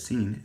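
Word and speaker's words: Sin: I forgot to write the pronunciation of seen is S.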